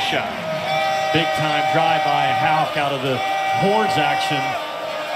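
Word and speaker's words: Haugh: then this is just a rip drive for ha spelled h a u CH h pronounced Hal with a K that's hard driving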